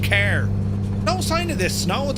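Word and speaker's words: Cahir: We're near car or if you look on the map it looks like car here but it's pronounced care.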